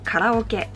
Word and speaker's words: karaoke: the last one is karaoke which we pronounce karaoke you probably already know